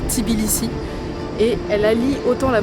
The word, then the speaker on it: Tbilissi: Tout commence par la visite de la capitale qu'on prononce Tbilissi et elle allie autant la modernité que la richesse culturelle et toute l'histoire.